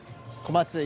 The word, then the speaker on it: Komatsu: No, I was talking about a silent U, whether it's the U is not pronounced on your surname. Komatsu. It is pronounced? Yes. It is pronounced. I got that wrong.